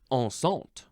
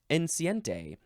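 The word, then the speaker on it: enceinte: c i n t now if I were to read it as Spanish it would be enciente but it's not Spanish it's French on this is the first form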